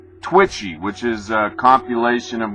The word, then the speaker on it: Twitchy: Not Twitsy. Twitchy, which is a compilation of what's being said on Twitter.